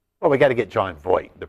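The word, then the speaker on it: Jon Voight: a shot, I was going to strangle the John Vaught lookalike Bo Ryan through the television. Bad offense this year, Dave. Yes or no? Well, we got to get John Voight, the pronunciation right.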